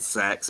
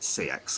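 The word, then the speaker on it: CEX: exchange chain sex but it's called sex but it's spelt c-e-x and it's just a poor pun in my opinion so i normally call it cx because i refuse to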